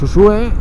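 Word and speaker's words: Uxue: pero con X, digamos, Usue es la pronunciación euskera, Ujué digamos que es la pronunciación en castellano. Pues Usue en euskera es el equivalente a paloma, al nombre de paloma en castellano.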